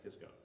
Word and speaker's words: Kisco: just a few more kisco it was really cisco with a c and somebody thought the c should be pronounced as a k and that's why we have kisco shallow muddy river so